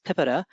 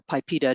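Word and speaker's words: PIPEDA: electronic documents act um affectionately known as pippeta or pipita depending on how you pronounce it and it is um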